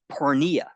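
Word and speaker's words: porneia: those translations in the Greek that word is pronounced Poria it literally means sexual acts that are morally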